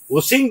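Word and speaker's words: whooshing: ये एग्जाम का क्वेश्चन है, हुशिंग बोलते हैं इसको, हुशिंग साउंड, एस साइलेंट है, हुशिंग साउंड सुनाई देगा जब हम एयर को पुश करेंगे my loving future nursing officer.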